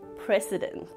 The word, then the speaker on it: precedent: Notice that the C here is pronounced similar to the letter S. With a relaxed jaw, slowly release the air through your teeth. Press. You could also think of the word press, precedent.